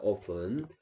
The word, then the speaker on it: often: often t가 소리 안 나기 때문에 often이라고 읽고요.